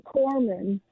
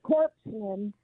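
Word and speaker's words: corpsman: this guy uh Obama who can't pronounce a Marine Corman. He calls it a corpseman.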